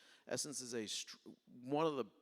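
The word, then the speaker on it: SSENSE: retailer so who do I call I call Essence everyone familiar with Essence in the United States who is not familiar with essence essence is a one of the bigger let me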